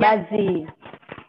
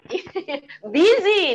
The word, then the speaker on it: busy: Jadi kalau busy, orang yang dandanannya busy. Busy, not busy.